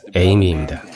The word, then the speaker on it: Amy: 스펠링도 그렇고 영상에도 나와 있듯이 아미가 아니라 에이미입니다. You're chasing Amy.